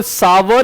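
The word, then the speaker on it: sour: Grapes are सोर नहीं है, ग्रेप्स आर सार, ये ध्यान रखना। इट इज कॉल्ड सावर या सार कर सकते हो, लेकिन ये सोर नहीं है, इसको ये मत पढ़िए सोर, है ना, ये गलत है प्रोनाउंसिएशन।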